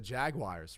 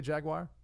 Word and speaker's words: Jaguar: and sell this Ryan how do you say Jaguar I apologize Bertie I say Jaguar Jaguar okay right right actually pronounces Jaguar right drives a hybrid Jaguar